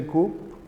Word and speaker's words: coup: that there is a coup p is silent coup in China military